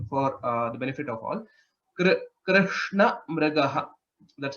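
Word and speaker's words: कृष्णमृगः: Krishna Mrigaha. That's how it is pronounced.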